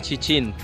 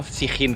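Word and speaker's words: 旗津: Por cierto, acabo de hablar con una gente de aquí, se llama Chichín. No Sijín, como os he dicho yo, se pronuncia Chichinchin, como chinchín. Y aquí detrás mío, que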